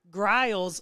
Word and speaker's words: Grile: and I saw that we've been saying Brandon Grile's last name wrong, and apparently it's GR and then IL, so Brandon Grile.